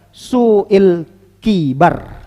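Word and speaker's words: سوء الكبر: Dari 2 cara baca ini yang lebih mendekatkan kepada kebenaran adalah su'il kibar. Su'il kibar. Tapi kalau dia di akhir bacaannya hampir mirip nih. Coba kibrun dengan kibar itu kalau dia disukunkan cara bacanya hampir mirip. Su'il kibar, su'il kibar. Hampir mirip bacanya. Allah alam bisawab, pendapat yang kuat dalam masalah ini cara bacanya adalah kibar.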